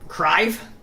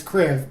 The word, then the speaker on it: Kriv: Crive? Yeah. Right. It's Kriv, but it's whatever.